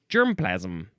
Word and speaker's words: germplasm: Now, this is one word, so you would say germplasm.